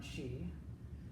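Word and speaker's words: sìth: series yeah Bob when she I can't even spell it without looking it up the last part of it is spelled s ith you which is pronounced she yeah they're definitely related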